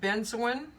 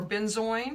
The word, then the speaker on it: benzoin: I've added benzoin, or benzoin, however you want to pronounce it.